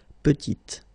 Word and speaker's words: petite: Final T is not pronounced, and then when you add this E at the end, you get the sound T, petite.